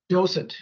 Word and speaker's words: docent: And we've talked about the concept of, Ernie, can you say it for, because I always pronounce it wrong. Docent.